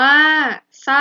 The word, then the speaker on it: เศร้า: เลย นะ คะ อ่ะ น่า เศร้า อ่าน ว่า เศร้า อ่าเศรษฐี อ่าน ว่า เศรษฐี